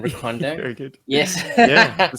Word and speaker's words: Recondo: Yeah, and rhymes with Secondo. And Recondo.